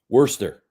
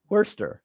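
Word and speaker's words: Worcester: at number eight is you know how to pronounce that Worster Worster that's right Worster Massachusetts uh and it says con Massachusetts Connecticut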